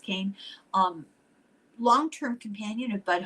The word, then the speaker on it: Kean: Leslie Kean, uh K E A N, but I think it's pronounced Kane.